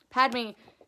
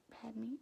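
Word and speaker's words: Padmé: it i don't um padme is from like my pad pad me yeah uh padme i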